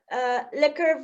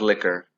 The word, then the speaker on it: lekker: can't go wrong with liquor so uh yeah it sounds like liquor yeah it's like lacquer but yeah delicious l-e-k-k-e-r this liquor is liquor